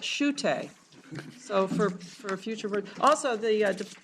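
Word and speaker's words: Schuette: five of your handout it looks like Shu it but Professor seagull tells me you pronounce that Sho so for for future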